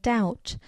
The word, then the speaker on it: doubt: Latin so they added the silent B in debt and doubt and Asylum P in